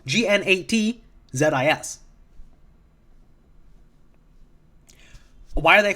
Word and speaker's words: Gnatzis: Because in this comic, they're called Nazis, as in Nat the Bug, Gnatzis.